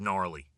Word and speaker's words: gnarly: I don't know if I've ever used the word gnarly, to be honest. I don't love the word. I mean, a silent G is always fun, but don't know if I've ever used the word gnarly.